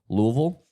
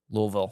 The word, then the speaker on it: Louisville: Rabbit Hole- Louisville, Louisville. Sorry, for Louisville, yeah. my Depending on where you're- pronunciation. Yeah, depending on where you're from.